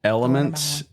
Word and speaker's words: LMNT: you're a hot weather Runner I like watermelon elements lmnt is how it's spelled yeah we to it in the show